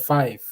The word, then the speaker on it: Fife: I live in a warehouse city called Five, but unfortunately or fortunately, they spell it as Fife, Fife.